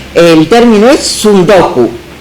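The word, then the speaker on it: tsundoku: los libros no leídos se creó en japonés supongo se pronuncia así el término es sudoku y se relaciona con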